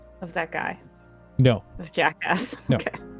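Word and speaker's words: Jakga: that guy no the jackass okay it's spelled j-a-k-g-a Jacka g is silent okay g-a Jacko I put it in our yeah but the g is silent yeah the G sure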